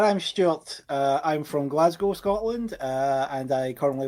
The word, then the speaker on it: Glasgow: My My guest all the way from Glasgow. Glasgow. Oh, sorry. No, no, please correct me. That that American accent coming out. Glasgow. Okay, I will say it right.